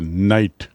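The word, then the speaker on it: knight: वह वर्ग कहलाता है नाइट। स्पेलिंग देखिए के एन आई जी एच टी के साइलेंट इन्हें नाइट कहा जाता था।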